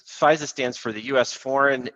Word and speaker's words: FISA: be scared or shouldn't i be scared so fize is interesting and by the way that's the actual uh pronunciation of it so it's the u.s it's fiza stands for the u.s foreign intelligence surveillance act